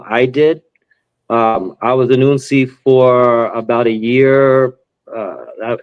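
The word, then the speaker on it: hounsi: There's, the initiate of the house, which is referred to as an unsi. Again, spelled with an H, but the H is silent.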